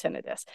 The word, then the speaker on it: tinnitus: or if they do they don't know it's pronounced tinnitus so we really really